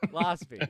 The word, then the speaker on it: Rosbe: But anyway, Sarah Carbiener and And Erica Rosbe. Rosbe. Yeah. I got it, man. It rhymes with Losby. Rosbe. Yeah, that's what it rhymes with. Yeah, they were amazing.